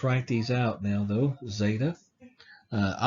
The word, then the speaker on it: zeta: And we'll go over pronunciation a little bit more again, but again, zeta is Z sound, eta, A sound, just like it says, eta, A.